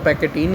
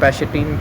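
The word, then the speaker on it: pachytene: मैं सही कह रहा था, पैकेटीन ही है ये, पैकेटीन है, इट्स नॉट पैशेटीन, पैकेटीन है ये first of ऑल. सो इट्स पैकेटीन.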